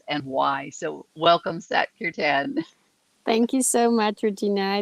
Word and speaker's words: Kirtan: Close, Kirtan.